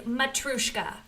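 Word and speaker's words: Matryoshka: Matrushka, that is a mouthful. Matrushka. And if you can't roll your R's, it's Matrushka.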